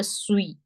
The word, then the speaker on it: suis: This S won't be pronounced. Je suis. The sound of UI is we.